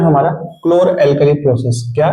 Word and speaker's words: chlor-alkali: क्लोर एल्कली process. इसको बहुत लड़के जो जानते हैं, इसको जो प्रोनाउंसिएट नहीं कर पाते हैं, क्या करते हैं? चोर एल्कली बोलते हैं। क्या बोलते हैं? चोर एल्कली प्रोसेस।